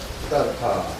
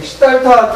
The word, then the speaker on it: 시다르타: 고타마 시다르타, 시달타라고도 이야기합니다. 그래서 사람들은 시달타 태자라고 많이 부르는데, 깨달음을 얻으신 이유는 샤카무니, 샤카족의 성자라고 이야기를 하죠.